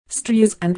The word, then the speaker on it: Streisand: with NPR in 2016 stre is and with a soft s like sand on the beach I've been saying this